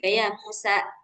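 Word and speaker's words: يا موسى: uk bagus hanya aja di ujung-ujungnya itu masih ada hamzah-hamzahnya ya kayak tadi ya Musa. Nah, ukhro. Nah, itu aja tinggal dihilangkan ya, Mbak Alis harusnya ya Musa. Heeh. Ya Musa dibuka. Dibuka jangan di titik gitu.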